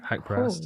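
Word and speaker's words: Nasrat Haqparast: And then with Nasrat, Hakparat. Yeah? Did I say it right? Hakparast. Oh, yes.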